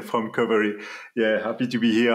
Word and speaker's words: Qovery: It's Romaric, Philogène from Qovery. Yeah, happy to be here. I'm a CEO and co-founder of Qovery.